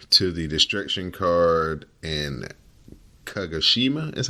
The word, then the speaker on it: Kagoshima: gonna turn over to the destruction card and kagoshima is how you say that the I think